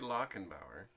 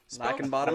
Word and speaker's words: Lackenbauer: It's actually Lackenbauer. Lackenbottom.